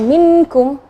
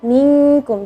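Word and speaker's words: مِنْكُمْ: Jangan minkum, ya, jangan dijelaskan, tapi minkum. Jadi nun itu sembunyi, ikhfa itu sembunyi. Jadi ikhfa itu nun sukunnya seperti sembunyi sebelum huruf ikhfa.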